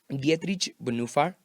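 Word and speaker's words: Dietrich Bonhoeffer: de la verdadera gracia dietrich en ufa así se pronuncian en alemán es un teólogo increíble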